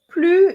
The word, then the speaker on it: plus: idea of the negative you do not pronounce the s so it makes it